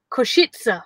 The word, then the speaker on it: Košice: I was a bit worried about saying it because it's pronounced Košice. Košice. That's where we're staying. Košice. Yeah. Say it again. Košice. Okay. It's not difficult, Shane, is it? Go on, Jason. Košice. Košice. You'll go. Dead easy. Yeah. Košice. Yeah, exactly. But it's not. It's not said how it's spelt.